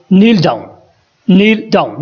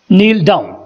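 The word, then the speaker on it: kneel down: घुटनों पर बैठ जाओ, नील डाउन, यहाँ पे भी के साइलेंट होगा, नील डाउन, मज़ेदार है, इट्स फनी,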